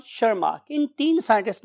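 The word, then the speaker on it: Tschermak: वास ए वन शर्मा इस लैंग्वेज में T Asus silent one शर्मा इन तीन साइंटिस्ट ने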